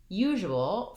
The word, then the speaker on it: usual: Usual has first syllable stress, and we mark that with a little line here before that syllable in the dictionary. And then the letter S in usual says this zh sound.